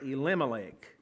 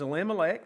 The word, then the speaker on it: Elimelech: That might be a better way to pronounce that. Elimelech.